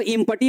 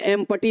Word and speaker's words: empty: तो बच्चे इसको एम्प्टी नहीं पढ़िएगा, इसको इम्पटी मत पढ़ दीजिएगा। ये इम्पटी भी नहीं है और ये एम्पटी भी नहीं है। यहाँ बच्चे आपका जो पी है ना बच्चे वो साइलेंट है।